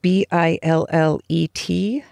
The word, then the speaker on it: billet: There's a word, B-I-L-L-E-T, which I would pronounce billet in English, but in the context